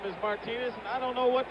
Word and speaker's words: Martinez: Reggie Jackson's middle name spelled the same way, pronounced Martinez. Reggie's been calling him Buck Martinez for I don't know how many years, but now we're told that the absolute correctness of the pronunciation is Martinez.